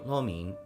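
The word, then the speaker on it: lo mein: pizza and some beef lomin. I think I think that that's the tonality. I remember Salen teaching me the pronunciation for lomin in Cantonese. It's like like high and then low.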